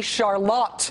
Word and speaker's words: Charlotte: there's a town called Charlotte." You may think, "Oh, Charlotte, like North Carolina." Turns out that's wrong. Michiganers pronounce this city Charlotte. Emphasis on the lot.